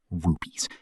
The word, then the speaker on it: Rupes: It's called Verona Rupus, pronounced Verona Rupes, a vertical drop of about 20 km.